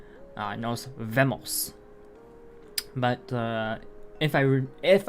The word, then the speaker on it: nos vemos: nos vemos see you nos vemos uh my high school spanish class remember the vs could were pronounced bees in spain so you would have nos bemos um so yeah i